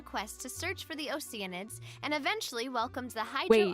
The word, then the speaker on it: Oceanid: went on a quest to search for the oceanids and eventually welcomed the hydro archon that's how you pronounce oceanid I keep forgetting it's one of